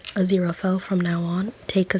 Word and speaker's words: Aziraphale: I did figure out how to say his name is Azera fell but for some reason I wanted to say Azel um but I will continue to say a zero felll from now on take